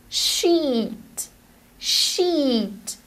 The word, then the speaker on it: sheet: totally misunderstand you so the right way to pronounce it in her case is with the long e sheet sheet paper sheet paper sheet